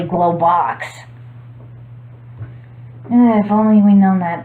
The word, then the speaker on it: Globox: When my brother and I were younger, we used to pronounce his name as Globux until we realized that his name is actually Globox.